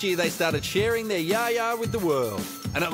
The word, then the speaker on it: Yaya: We know we're pronouncing it wrong, but I think it's pronounced Yaya or Yayi. Or I can't actually say it, but yeah.